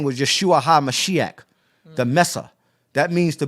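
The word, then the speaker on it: ישוע המשיח: Drop His name was Yeshua HaMashiach. That's how you say his name in the Syriac.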